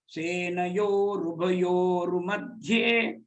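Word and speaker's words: सेनयोरुभयोर्मध्ये: So all three together, there are two R sounds have come in between. Senayo, Rubayor, Madhye. Senayor, Ubayor, Madhye. To focus on the joint conjunctions, you pronounce correctly.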